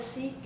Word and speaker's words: Sikh: um and a follower a follower of seism is called a seek and it's something that